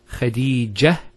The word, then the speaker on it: Khadija: We pronounce the ta. If we stop at the ta, Khadija, it's a ha.